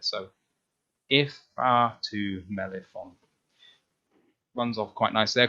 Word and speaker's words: Ifeatu Melifonwu: And for me, this is just about breaking it into the syllables of the name, because if you just try and break it up into its little chunks, it's not too bad.